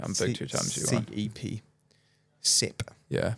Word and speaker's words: CEP: CEP. Yeah. It's not CP. CEP.